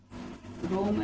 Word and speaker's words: Rome: learning fall and rome rome actually is pronounced here like room to cry with two